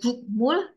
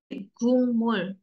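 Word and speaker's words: 국물: berarti tetap m-nya tetap jadi bacanya dari gukmul jadi gungmul Oke kalian mau ngomong gukmul juga orang Kore ngerti tapi kalau ngomong gmul itu lebih bagus ya lebih seperti orang Korea gitu nomor at nomor 5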